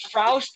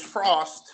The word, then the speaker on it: Fraust: Frost, before I go any further, is it Frost? Is it Fraust? Because it could be pronounced either way. How are we doing this? So it's Frost. It's German.